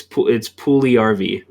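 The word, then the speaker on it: Puljujärvi: Puliarvi? Yeah, sure. I mean, Yeah, Jesse Pugliarvi. That's how you say it. Fully According got it. according to Hockey Reference, it's Pugliarvi. So So shout out to Jesse Pugliarvi.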